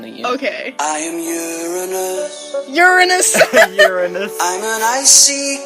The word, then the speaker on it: Uranus: pronounce Uranus? Uranus.